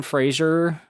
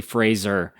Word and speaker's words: Fraser: Also, Brendan Frasier, who I call Brendan Fraser, his name is Fraser. That everyone says it wrong, including me just now. The correct pronunciation is actually Fraser.